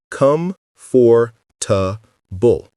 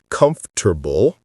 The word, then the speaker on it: comfortable: They pronounce every single syllable. Come for tbull. Four syllables. Come for tbull. That's wrong. Native speakers don't say it that way. We compress it dramatically. The correct pronunciation is three syllables, not four. We say comfortable or comfortable. The or sound disappears completely. The middle gets compressed. It sounds like comfortable. Let me say it slowly. Comfortable. Now faster. Comfortable. Hear that? Three syllables, not four. Let's practice this in real